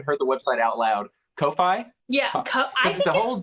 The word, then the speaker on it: Ko-fi: you can I know because the whole thing is like you can buy me a coffee but it's spelled ko-fi and I'm like but that's Kofi whatever that website is